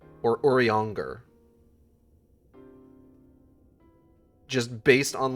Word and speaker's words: Urianger: Even when he's frustrated, Urianger doesn't quite become Uri angry.